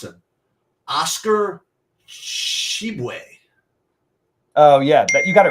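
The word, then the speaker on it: Oscar Tshiebwe: Actually, I know this guy, but I don't know how to pronounce him. Oscar Shibwe.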